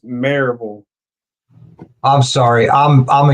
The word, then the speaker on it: Maryville: Mountain Bike Week just a small Maryville it's marille I'm sorry I'm I'm A Yank it's spelled marville I know youall pronounce not pronounced